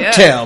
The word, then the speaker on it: hotel: Oh, Hotel buffet. You got to put that stress on the first syllable.